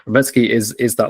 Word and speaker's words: Rebecki: that because I think people might say Rebecki but it's Roki Roetski is is that like kind of um wrecking ball in the first round but I I completely agree.